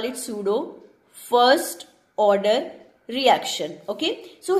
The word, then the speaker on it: pseudo: This is pseudo, P is silent here, so we will call it pseudo first order reaction, okay.